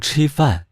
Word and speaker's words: 吃饭: Ví dụ, khi học "吃饭" (ăn), trước tiên bạn biết nó được phát âm là "chī fàn," sau đó nhìn vào các chữ "吃" và "饭."